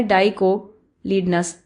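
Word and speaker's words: dicotyledons: अच्छा तो पहला डाईकोट लीडनस ऐसे प्रोनाउंस होता है। डाईक लीडनस समझ आया और दूसरा मोनोकातलिडोनस ऐसे प्रोनाउंस होता है।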